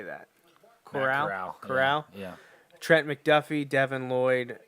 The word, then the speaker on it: Corral: Corral.